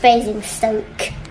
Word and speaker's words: Basingstoke: I'm in Guildford and and um it is pronounced Basingstoke hi Steve and Jesse I'm in Guildford and